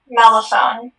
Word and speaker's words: mellophone: Mellophone. Could you, are there any alternate pronunciations, please? There is just the one, mellophone.